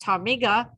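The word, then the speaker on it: ptarmigan: Megan a local chicken-like bird whose name is pronounced tamiga tamigran so they decided to call it chicken because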